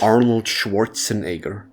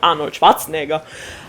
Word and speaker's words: Arnold Schwarzenegger: The inglified Arnold Schwarzenegger. That's technically not how you how you pronounce his name. Yeah, I not that I'm bothered by that. But at the same time, it is very difficult to slide accents into fluent speaking because I also call him Arnold Schwarzenegger while I'm talking. I know that it's called Ano Schwatzenegger, but it's very hard